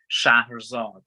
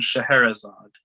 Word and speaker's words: Scheherazade: This one is called Shahrazad, or as you know, its English pronunciation, Scheherazade.